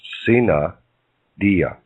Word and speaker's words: sine die: Under the parliamentary law of Congress, when this happened, Congress became sine die, pronounced sine dia.